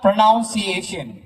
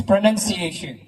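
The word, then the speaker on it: pronunciation: points to red house it's नॉट प्रोनाउंसिएशन इट्स प्रोनंसिएशन direct question for रेड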